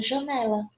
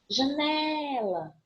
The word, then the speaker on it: janela: Mas pode acontecer, por exemplo, da palavra janela. Janela. Eu vou ter essa penúltima sílaba tônica e ela não é acentuada.